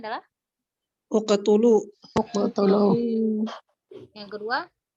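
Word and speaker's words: اقتلوا: Yang pertama, kata yang pertama cara bacanya adalah Uqtulu.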